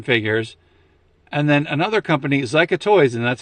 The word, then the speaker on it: Zica: And then another company, Zica Toys, and that's how you say it.